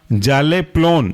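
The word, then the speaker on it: Zaleplon: कहलाएगा आपका जल्प dam next example है आपका जाले पलन जाले जेड ए एल E plough P एल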